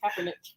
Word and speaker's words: Kaepernick: That Colin Kaepernick, how you pronounce his name? Kaepernick.